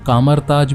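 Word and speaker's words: Kamar-Taj: यहाँ पर कामाताज को कामरताज भी बहुत बार प्रोनाउंस किया गया है।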